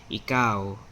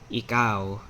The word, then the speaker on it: ikaw: So you, second person singular, is ikaw. Ikaw. Ikaw. Again, just listen to the stress.